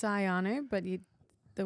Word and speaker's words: Ioannou: do you mean like well in Greek so you can say it like ianu oh whereas aies would just say aanu Ayan cuz it's a lot